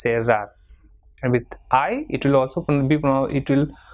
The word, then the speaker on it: cerrar: Same way, CERRAR will be pronounced as cerrar, and with I it will also be pronounced with the same sound.